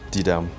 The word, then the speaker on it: Didam: teach i'm just saying my name is d-i-d-a-m d-dam the voice la this is my story and